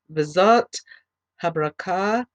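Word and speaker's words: V'Zot HaBrachah: Okay, we're going to begin chapter 33, and this is also beginning Parashat Vizot Habrakah, and that is spelled V apostrophe ZOTHABRACHAH, the blessing of Moses.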